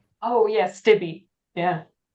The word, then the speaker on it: Stibbe: I was just saying Stib. I was Yeah. losing the B and the E at the end. Yeah, it's not an obvious name. It's one of those Germanic names that is actually in Germany, it's pronounced Stibbe or Stibbe. So the E is an A kind of thing. But in England, for some reason, it was Stibbe.